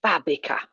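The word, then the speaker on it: fábrica: old la estacion nice Accent on the a for Fabrica watching the word he'll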